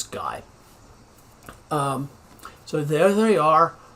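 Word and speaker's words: Gey: and margaret guy so it looks like it's pronounced gay but it's guy um so there they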